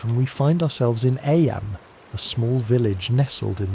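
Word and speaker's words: Eyam: It's now the summer of 1665 and we find ourselves in Aam, a small village nestled in the picturesque hills of Disha, England. Aam, you know, is pronounced just like I.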